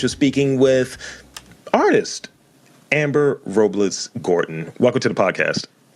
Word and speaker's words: Robles: is Amber Robles Gordon it's actually Robles but most people can't pronounce it that way but um I am